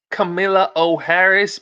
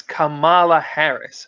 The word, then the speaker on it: Kamala Harris: is kamala i'm sorry not camilla o harris but actually her name is kamala harris okay sorry sorry sorry i'm sorry i pronounced it wrong it's kamala harris so anyway uh kamala